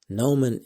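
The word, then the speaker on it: gnomon: spelled kind of funny Nan is spelled g n o m o n that is g n o m o n so it's not the g is silent so that's a little tricky now also mentioned several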